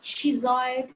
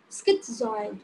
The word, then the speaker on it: schizoid: it it is not cheese i it is not skis oil schizoid skipped so next I